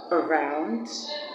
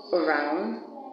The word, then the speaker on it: around: We have that sound at the beginning of the words around, also, again, and at the first syllable of the word today, and the first syllable of the word tomorrow. Tomorrow.